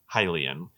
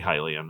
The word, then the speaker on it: Hylian: I've always pronounced Hylian the way you say Hyrule. Hylian.